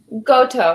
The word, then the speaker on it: Goto: Goto, rhymes with photo.